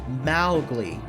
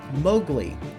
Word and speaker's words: Mowgli: Stories had intended for his name to be pronounced Mowgli the Disney film unwittingly had changed the pronunciation to Mowgli Kipling's daughter who was still alive at the